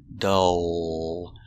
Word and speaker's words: dull: example is dull dull making the vowel uh dull and the L is a dark L it's in the back dull dull is an adjective